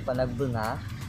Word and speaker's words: Panagbenga: Pero pag nasa Norte kasi talaga, Panagbenga, ayun yung correct na pronounce nyo, Panagbenga, ang pamumukadkad, sabi nila, pamumukadkad ng bulaklak.